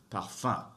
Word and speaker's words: parfum: It's when U and N or U and M come together, and that makes a sound. Parfum, parfum. You hear, you don't really hear the M being pronounced. It makes a nasal sound. They come together and make one sound.